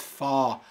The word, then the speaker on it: fall: porque no es fácil es posible que tú estés diciendo fall pero es folk soul folk tiene como un sonido más de garganta folk y tiene la